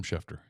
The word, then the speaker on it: Schefter: you know shefter gets on it right I pronounced his name right that time Adam schefter got it yeah all right left at the